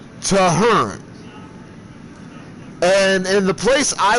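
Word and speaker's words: Tehern: spelled t e h e r n but pronounced toar and in the place I was at when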